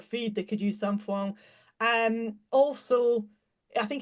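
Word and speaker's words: sainfoin: A horse owner I was working with in France, and of course you pronounce it sampoing. So I now call it sampoing, not sandfoin.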